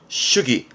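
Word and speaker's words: 主義: 슈기.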